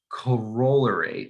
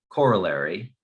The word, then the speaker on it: corollary: let's get to the corollary or corollary i've heard it pronounced both ways i think i prefer